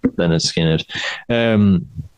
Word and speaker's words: Lynyrd Skynyrd: It's Lynyrd Skynyrd with pronounced Lynyrd Skynyrd.